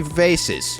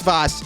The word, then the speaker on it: vase: And with that, we can go to this jar place and purchase three fancy vases. I understand it's not pronounced vase. It's boss.